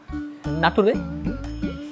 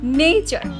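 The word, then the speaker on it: nature: নাটুরে। নাটুরে কিভাবে হয়? নেচার, বলো নেচার। নেচার, উচ্চারণটা তোমার হয়নি, আমার সাথে বলো নেচার।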